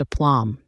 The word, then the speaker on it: aplomb: happily in the meadow upom pronounced a plom it describes self-confidence assurance and composure despite the chaos around her she handled the situation with remarkable appom doubt pronounced doubt it